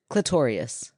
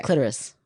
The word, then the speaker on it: clitoris: weir when you say you're saying it like notorious clitorious that's I was saying that's wrong yes that's what you said yeah I didn't mean to say it like that okay clitoris there you go all